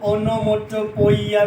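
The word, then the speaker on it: onomatopoeia: अब इसके दो तलफ़ुज़ है, आप इसको ओनोमोटोपोइया भी पढ़ सकते हैं या फिर ओनोमेटोपोइया भी पढ़ सकते हैं।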